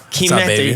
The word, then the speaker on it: Chimento: Chimento, he said it right. Yeah, dude, I can't, the CH is a K sound.